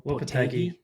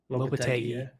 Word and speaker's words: Lopetegui: Lopetegui. Lopetegui, yeah.